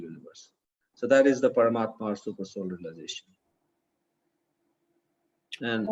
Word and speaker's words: Paramatma: Paramatma or super soul? Paramat, super soul, yeah. Paramatma, yeah.